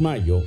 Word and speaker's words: Mallo: Y Mayo se escribe como gallo, LLO, Laboratorios Mayo.